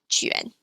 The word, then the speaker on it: juan: I'll explain the sound of the umlaut U in a bit, but for now we have umlaut UAN, which is pronounced like yuan. For example, juan.